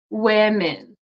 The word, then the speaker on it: women: doesn't make sense but it's pronounced women look like an i sound women why I have